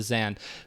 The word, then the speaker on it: Zain: say for the record i'm acknowledging that zan is also how you pronounce his name for real for reals but zane on the on the radio melee podcast said i'm good with either or so i'm probably going to stick with zane just for my own